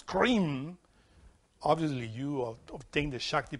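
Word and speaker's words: Krim: Is K-R-I-M, cream.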